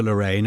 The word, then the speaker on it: Lorain: Is it pronounced Lorain? Lorain, yes, I believe Lorain, so.